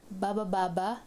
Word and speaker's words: baba: Baba, going down. This first one is actually a sentence, and it's just made of one syllable, which is ba. So it goes baba. It means going down.